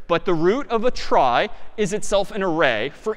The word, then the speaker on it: trie: So a try, sort of a weird name and pronunciation, short for retrieval, pronounced try typically.